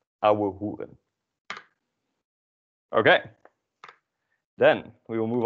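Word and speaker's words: ouwehoeren: Yeah, and so pay attention to how you pronounce the OU as au and the OE as u, auhugen.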